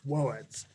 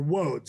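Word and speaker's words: Łódź: in poland called woads it's spelled l-o-d-z but it's woeds or woads i'm sorry uh a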